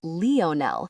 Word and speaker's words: Lionel: Only he didn't pronounce it the way we would. He pronounced it Leonell with the emphasis on the ne.